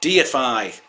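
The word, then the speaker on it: deify: a look of Pardon Me of How It's pronounced DFI DFI that's it let's hear it again and to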